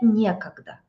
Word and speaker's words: некогда: Мне некогда. Yeah, we say мне, to me, it is некогда. Некогда, it means I don't have time. Мне некогда с тобой разговаривать. And the stress is on E, мне некогда.